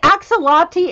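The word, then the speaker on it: axolotl: I think I did this one to do axial opti is that how you say it somebody pronounced it for me I mean acts a lot T in space that's gonna look really cool I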